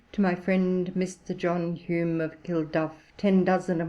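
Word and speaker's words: Home: namesake of mine ebid h-o-m-e is pronounced hume he often wrote of his friend as mr john hume alias h.o.m.e a few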